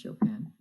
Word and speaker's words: Chopin: The contributors, well, we have the author, Kate Chopin, pronounced Chopin.